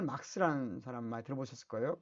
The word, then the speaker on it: 마르크스: 칼 막스에 따르면, 칼 막스 이렇게 잘 써질려나 모르겠네요. 칼 막스. 지금 제가 이게 이게 막스. 원래는 이제 쓸 때는 마르크스라고 써야 됩니다. 마르크스라고 쓰고 읽을 때는 막스라고 읽는 겁니다.